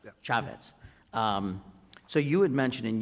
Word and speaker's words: Chaffetz: Chaffetz, is that, am I pronouncing that right? Chaffetz, yeah. Chaffetz.